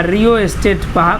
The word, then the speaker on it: rheostat: ठीक, ये याद रखिएगा, रियोस्टेट पढ़ा जाता है। RHEOSTAT इसका स्पेलिंग होता है, और इसको क्या बोलते हैं, रियोस्टेट पढ़ते हैं।